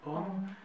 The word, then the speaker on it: homme: de nasal on om bon il y a des des exceptions h par exemple écris-moi s'il te plaît les mots femmes et homme h très bien h N oui exactement c'est femme et homme ce sont les exceptions à cette règle hm hm ce sont